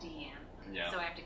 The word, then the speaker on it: Diane: It's like my character in Seven Deadly Sins, Deanne. Like, mm-hmm. lately, because other people call her Diane, and that's how the American way right, of pronouncing it. I've been calling her Diane lately, even though we recorded it as Deanne.